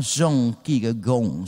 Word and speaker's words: Søren Kierkegaard: Bacanya seharusnya Søren Kierkegaard, saudara, karena ini bahasa Denmark.